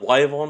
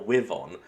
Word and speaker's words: wyvern: Is it Wyon or Won? Most people agree it's Wyon, but then you got a few people that are like like ah it should be pronounced won and it's just like dude shut up.